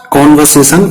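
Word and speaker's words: conversation: कॉन्वर्सेशन इसमें are silent रहेगी।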